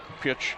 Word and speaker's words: Pych: people and that's a pych is how it's spelled but pitch is how you pronounce it pitch swings to the